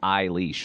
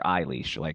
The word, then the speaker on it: Eilis: name until Adam goes, it's just like Eilis, like your Eilis, it's how you say it.